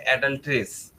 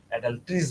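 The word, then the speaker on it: adulteries: ঠিক আছে, তো অ্যাডাল্টারি বেসিক্যালি এক বচন, এর বহু বচন হচ্ছে অ্যাডাল্ট্রেস। আর অ্যাডাল্টারি একটা ক্রিয়া, আর যখন এরকম অনেকগুলো অ্যাডাল্টারি হয় তখন সেটাকে বলা হয় অ্যাডাল্ট্রিস বলা হয়। উচ্চারণটা হচ্ছে অ্যাডাল্ট্রিস, অ্যাডাল্ট্রাস না।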